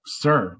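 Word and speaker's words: ser: gm um so then you get sir which is spelled s-e-r and it's used um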